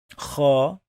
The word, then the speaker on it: خ: Kha. Kha. And so pay attention to the sound. Ra, kha, ra, kha. I know that many of you would say they are the same, but they are not.